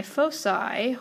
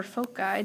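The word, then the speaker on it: foci: plus or minus five my fosi or folai depending on your pronunciation comes from this Pythagorean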